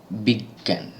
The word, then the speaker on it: বিজ্ঞান: দাঁড়ায় গ এবং গ এর চন্দ্র বিন্দু যেমন বিজ্ঞান বিজ্ঞান এখানে বর্গীয় জ এবং ইয় এর কোনটাই কিন্তু উচ্চারণ হচ্ছে না উচ্চারণ হচ্ছে গ এবং গ